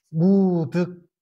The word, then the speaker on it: 무득: 그래서 오늘은 무득 무서리라.이 경성도 사람들이 덕하고 덕 덕하고 득하고를이 발음을 똑같아. 잘 못 해.